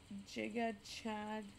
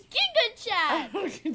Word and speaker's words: Gigachad: me gives you a jiga Chad jaw line you can't even say it right it's Giga chat sorry okay what what